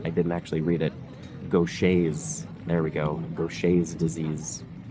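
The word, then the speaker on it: Gaucher: Because I just assumed on the pronunciation, I didn't actually read it. Gocha.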